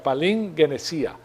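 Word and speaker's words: παλιγγενεσία: La palabra regeneración es, así se pronuncia, palingenesia. Palingenesia en el griego está con dos Gs, GG, no tiene una N, pero se pronuncia como una N en el español.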